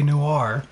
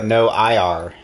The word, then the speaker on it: noir: new new hire new because it's pronounced noir just like no i believe the uh